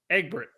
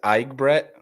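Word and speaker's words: Egbert: eat i say it egg brick but is that that's not right how do you say it eager so the right way to say it is igbret but i never correct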